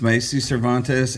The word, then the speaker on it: Macy Cervantes: Our guest today is Miss Macy Cervantes, and am I pronouncing that right? Yes. Okay, got it right.